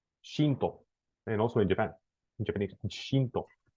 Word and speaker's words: Shinto: English, you say it Shinto, like Sintoísmo. Shinto.